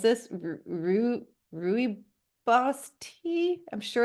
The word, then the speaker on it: rooibos: You will find, Newsflash, you have a pronunciation. It's rooibos.